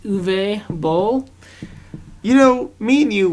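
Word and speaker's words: Uwe Boll: remarkable movie by mystery I believe it's called pronounced uve Bowl you know me and you went to go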